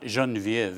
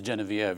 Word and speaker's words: Genevieve: And by the way, I'm told it's not Jeanviev, it is Geneviev. She pronounces it that way.